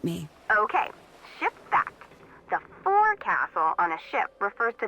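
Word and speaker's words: forecastle: ship but it's pronounced fil why is that try pronouncing it like an English sailor with no formal education SPO Castle fil over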